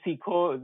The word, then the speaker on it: Goseeko: we were like okay why not a c like a k you're saying siko the Hindi word right so it is currently or the domain is g s w k okay so anybody who pronounces it in the Hindi context we naturally mean goo okay but we also